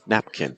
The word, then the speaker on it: napkin: Or same thing with like napkin. It's not napkin, napkin, or napkin, napkin, napkin. No, it's napkin, napkin, napkin.